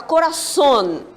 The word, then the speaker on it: Corazón: você sair em espanhol a palavra Corazón Corazón Qual é a sílaba forte Sony não é isso as demais são